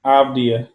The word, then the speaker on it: Avdija: Avdija. It's like the J is silent.